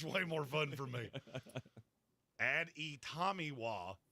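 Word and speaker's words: Adetomiwa Adebawore: Add e Tomiwa, add e bar a. That's exactly how it's pronounced.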